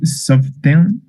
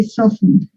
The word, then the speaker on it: softened: The same way we don't pronounce the T here and said often, the same happens here. We don't pronounce the T. We say softened.